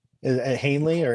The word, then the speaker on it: Henley: Is it Hanley or It's Henley? Henley. It's Henley. Yeah, I don't know why I'm blanking on how to even pronounce his first name, but he is a